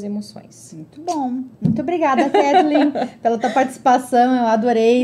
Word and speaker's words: Kathleen: É Kathleen exatamente como se fala, né? Kathleen, bem o português, ..